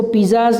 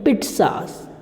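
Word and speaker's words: pizzas: इसको पिज़्ज़ाज नहीं बोलेंगे, पिट्ज़ास. पिट्ज़ा क्या बोलेंगे, पिट्ज़ा. इसका प्रोनाउंसिएशन क्या रहेगा, पिट.सा, पिट्ज़ा, ये प्रोनाउंसिएशन रहेगा इसका.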